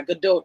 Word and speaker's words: Gadot: But yeah, Gadot, if you want to be, if you want to be specific about it, but Well, to answer